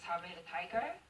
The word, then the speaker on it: Saber Tiger: so when you asked Hide to join to X Japan, what they say as a member of Saber Tiger, especially the vocalist, was they okay?